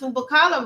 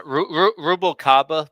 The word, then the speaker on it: Rubalcaba: And listen to me, I pronounced Wupakala wrong, right? Okay, right. Yeah, Rubalcaba, but I called him Chewbacca for the first 6 months, so I cannot.